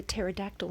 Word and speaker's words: pterodactyl: Remember the pterodactyl and the silent P in the snow.